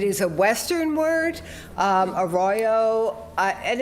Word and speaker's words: Arroyo: been in production for months and I'm like a Royo a Royo and uh and and that's what